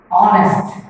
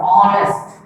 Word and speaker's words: honest: Honest. We speak the word honest. The word letter H is silent.